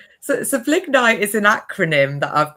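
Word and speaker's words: Blignite: mentioned in in your intro this thing called Ble Knight, if I pronounced that correctly. Do you want to tell a little bit more about that. So, so Bliggnite is an acronym that I've created.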